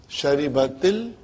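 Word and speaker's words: شربتِ: Now, in order to pronounce them, the first sukoon will always get a kasra, temporary. Now pronounce. Sharibatil, then you can, from T you can go to Al.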